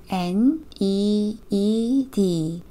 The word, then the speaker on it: need: N, E, E, D. 여기서의 ee 함께 e로 발음해 주시면 돼요. 그래서 need.